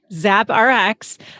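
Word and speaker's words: ZappRx: us into the store so it's is it zap rx is that how you pronounce it yeah yeah it stood for zoe's prescription app nice oh i like that there you go zap rx uh so you have the concept you're like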